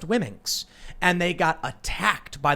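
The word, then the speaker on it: Womxn: the name was and they said whimxen w-o-m-x-n why mixin that's i don't know and they say it's pronounced women's and they got attacked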